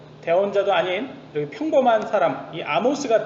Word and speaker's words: 아모스: 말씀은 파헤쳐 보도록 하겠습니다 아모스 아모스 는 a 모스 라고 발음을 하구요 영어로는 소 되어서 세번째